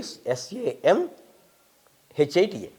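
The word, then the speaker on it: Saṃhitā: They pronounce Nyaya Samhita, they write Nyaya Sanhita, Nakara. It should be Samhita, Samhita, Vyācarya.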